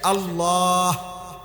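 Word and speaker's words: الله: শেষে আল্লাহ, শেষে একটা গোল হা আছে, ছোট হা। আল্লাহ মানে আল্লাহু, তো হুটারে শ্বাস ফেলাইলে হলো আল্লাহ। তো আপনি যদি শ্বাসে না ফেলান তাহলে তো হু কইতে হবে।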